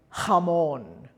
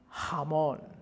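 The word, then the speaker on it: jamón: J in Spanish is pronounced a little bit guttural, but not too much. We need to be aware that we're singing. So J will be h, h, as in, if you think of Scottish loch, Loch Lomond, loch, and we have hugar, hugar, or hamon, hamon.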